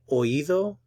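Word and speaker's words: oído: hurt s note that oivo means specifically the inner ear and for pronunciation the O and the I are pronounced in separate syllables and their stress on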